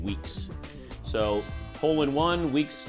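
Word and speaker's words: Weaks: It's spelled W-E-A-K-S. That's how he spells his name, Weeks.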